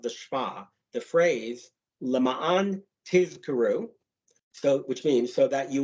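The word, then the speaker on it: תזכרו: will remember the mitzvot, must be pronounced in an unusual manner. The Z sound in tizkaru has to be prolonged so that the word is not mistaken for tizkaru, which would mean in order that you receive a reward.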